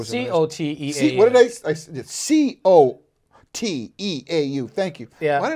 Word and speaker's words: Coteau: Coteau is C-O-T-E-A-U. C-O-T-E-A-U. Thank you. Yeah. Why did I put a K in there? Oh, that's phonetically.